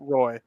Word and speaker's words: Roi: __ ] Robinson no there's a guy on the Kings whose last name is Roi and he pronounces it Roy yeah I know yeah